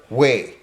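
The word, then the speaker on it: Hue: marine corps when they were trying to clear way which is spelled h-u-e this was the old imperial capital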